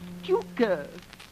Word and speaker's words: Tucker: Tucker. Tuker, Mr. Kendall. It's pronounced Tuker.